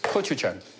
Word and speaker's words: gochujang: So you'll be able to tell us how you pronounce this. It's gochujang.